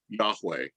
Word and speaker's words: Yahweh: y h w h which has come to be pronounced in in the 20th century as yahweh hebrew is has no